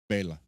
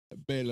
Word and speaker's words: Bela: Actually, well, people say Bella. It's actually pronounced Bela. Bela Lugosi.